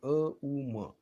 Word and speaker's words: ओम: ओमचं उच्चारण कसं करायचं बघा. अ, उ आणि म 3 वेळा म्हणायचं, फक्त 3. अ, उ, म. अ, उ, असं. म्हणजे ओम तयार झाला.